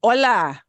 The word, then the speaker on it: hola: that in a bit H by itself is a silent letter like all the time so even though it's spelled there it is pronounced as o l a hola hola hola hola hola